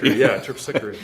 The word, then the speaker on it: Terpsichore: I just, I'm such a huge talking Thank you for saying, I didn't know how to pronounce that. Terpsichore.